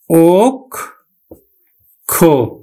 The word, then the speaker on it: অক্ষ: যেমন আমি লিখলাম অক্ষ, আদ্য অ এর সাথে আমার কি পেয়েছে, ক্ষীয় পেয়েছে, তাহলে উচ্চারণ হবে কিন্তু ওক খ।